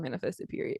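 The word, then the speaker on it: Manifested.: period on the end it does not say the word period but anyway but it's pronounced manifested period people get that confused all the time the business name is not name manifested it's manifested period anyway head over to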